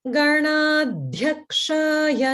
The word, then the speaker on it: Ganadhyakshaya: Om Ganadhyakshaya Namaha. Om Ganadhyakshaya Namaha. Om Ganadhyakshaya Namaha. Good. And here there's holding on Ganad, Ganad, and then Dhya, Mahaprana, Dhya, Ganadhyakshaya, Ganadhyakshaya.